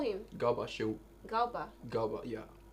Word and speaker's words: Garba: Galba, yeah. Garba or Galba? You have never heard about that name? Is it Garba or Galba? Stop using English to pronounce native names.